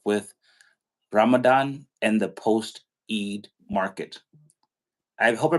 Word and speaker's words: Eid: Ramadan and the post Eid market. I hope I pronounced it correctly. So, is that correct? Eid. Is that how you pronounce it? Eid. Yes, that's correct.